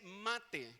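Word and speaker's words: מַטֶּה: Y la primera se dice mate, con 2T, así como se escucha, con acento en la A.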